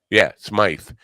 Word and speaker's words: Smythe: Smythe. It's at Smythe, but it's pronounced Smith.